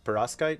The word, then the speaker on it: perovskite: And I'm going to butcher this because it's perovskite. Is that how you pronounce it?